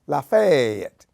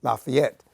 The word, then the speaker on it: Lafayette: Miss and the surrounding County which they call Lafayette although most people would pronounce it Lafayette as in French and it was the first